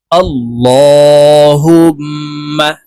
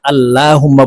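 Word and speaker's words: اللهم: সহি শুদ্ধ হয়ে যাবে আল্লাহুম্মা আমরা অনেকে এই যে আল্লাহুম্মা বলে থাকি এখানে লাম খারা জবরে লা লেখা আছে কিন্তু এখানে ল বলে বলে উচ্চারণ করতে হবে অর্থাৎ মোটা ভাবে উচ্চারণ করতে হবে কারণ আল্লাহ শব্দের আগের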